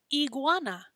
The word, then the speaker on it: iguana: e i okay so whenever we see the letter i we're going to say e so this guy is called an iguana even in english we call it an iguana right not an iguana we call it iguana